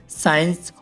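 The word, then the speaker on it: science: for example guys Saint साइंस और सीन में एस के बाद सी आया हुआ है तो सी साइलेंट है गाइस ऐसे ही ब्लैक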